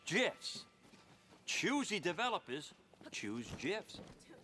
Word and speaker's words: GIF: the graphics interchange format Steve wilheit says it's jits choosy developers choose GIFs ah Dan dark